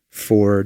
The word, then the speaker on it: pho: Now, I know some people pronounce the Vietnamese soup fo. That's how I usually pronounce it. But today, I decided to say fu. I don't like saying fu, even though I think that is phonetically correct.